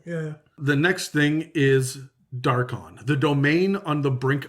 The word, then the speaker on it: Darkon: I wonder if this one's called Darkon or something like. The emphasis is on the wrong syllable.